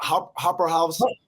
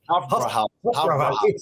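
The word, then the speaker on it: Hofbräuhaus: Harbor, you pronounce Hopper House? Hofbrauhaus House. Hofbrauhaus. It's famous.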